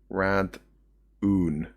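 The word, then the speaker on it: Radahn: Sorry, it's spelled Radhan. Radhan? And pronounced Rad-oon.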